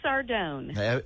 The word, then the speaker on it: Sardone: I don't want to mispronounce it. It is Debbie Sardone.